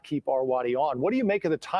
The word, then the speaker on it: Arwady: the internet on Allison Arwady, which Dick Simpson keeps mispronouncing as Awardy, but that's okay, Dick.